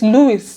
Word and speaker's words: Louis: Like, it's Louis. Like, where is H coming from?